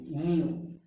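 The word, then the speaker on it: knew: ক্ষেত্রে খে উজ্জ থাকে বা নীরব থাকে অথবা সাইলেন্ট থাকে। খে এন ই ডাব্লিউ নিউ, তারপরে আসছে এই নিউ অর্থ কিন্তু জানা বা জানতো, পাস্ট জানতো।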